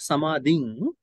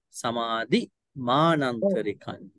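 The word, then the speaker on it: samādhimānantarikaṃ: It is not samading, samadhi manantarikan. Samadhi anantarika kanamaho. You dropped the M. Samadhi manantarikan. The M has to be pronounced.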